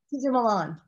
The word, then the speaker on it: Cesar Millan: You did the stuff with Cesar Millan. Is that how you say his name? Cesar, right. Yeah. I had a company, Cesar Millan.